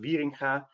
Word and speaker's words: Wieringa: It's pronounced Wieringa.